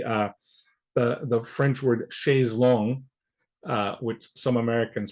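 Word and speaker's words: chaise longue: like let's say uh the the French word she's long uh which some Americans pronounce Shay's Lounge uh inaccurately pronounced that way um if our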